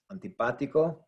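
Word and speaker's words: antibiótico: without any accent marks antibatico now listen to that word that's where the stress is in that in there third from the end so being that it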